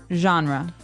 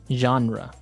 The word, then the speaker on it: genre: pronounced differently we say genre genre or genres this kind of sounds French is it French I